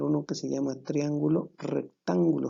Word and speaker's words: rectángulo: Ahora, según la medida de sus ángulos, vamos a tener uno que se llama triángulo rectángulo. Fíjate bien, lleva acento en la A, rectángulo.